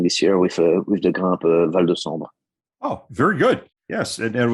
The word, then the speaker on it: Val De Sambre: How do you pronounce the name of your team? VDS means Val De Sambre.